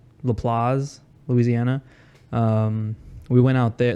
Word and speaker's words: LaPlace: So it's LaPlace, Louisiana.